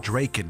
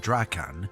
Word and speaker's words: Draken: One dude, Lorell Vidyard Draken, which by the way, in my God Wars lore video, I pronounced it Draken instead of Draan, and nobody felt the need to correct me for that one.